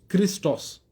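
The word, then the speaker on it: Χριστός: ईसा सलाम का नाम ग्रीक लफ्ज में इसको एक्चुअल में प्रोनाउंस किया गया है क्रिस्टस तो यह ग्रीक लफ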